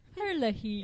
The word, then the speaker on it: Herlihy: his name Tim Herlihy Herlihy it's spelled AGR l IH y I'm pretty sure it's like Hurley Tim Herlihy Tim Herlihy has